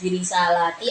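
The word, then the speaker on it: بِرِسَالَاتِي: Jadi bisa birisalati jamak, ya. Jamak muannas birisalati, atau dengan mufrad birisalati. Jadi dalam membacanya bisa lanya bisa panjang, kalau panjang berarti jamak, okay. Kalau birisalati berarti mufrad.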